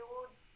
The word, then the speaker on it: would: he would without without the L is silent okay he would he would he would he would stand and